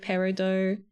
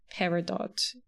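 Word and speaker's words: peridot: So, if you work in like the jewel industry, you call it parido, but in lay man uh French hating terms, it's paradot. But I think if you said parido, people would just accept that that's correct and understand what you mean.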